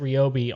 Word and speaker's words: Ryobi: No, I mean we know that these guys are going out of their way to pronounce it Ryobi on all of these.